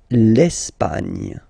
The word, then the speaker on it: L'Espagne: L'Espagne. Okay, don't insist on the final E because basically it's not pronounced.